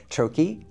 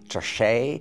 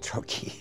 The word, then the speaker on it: troche: It's pronounced troi, not treet, not tro, and not anything in between. It's called troy.